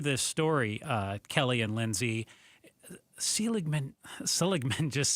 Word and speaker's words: Seligman: It looks like Seligman, like the former commissioner of baseball, Bud Selig, but it's Seligman.